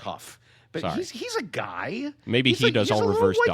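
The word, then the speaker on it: Haugh: He's It's It's Huff, by the way. It's not Haw. It's spelled the same as Haw. Okay. Pronounced Huff.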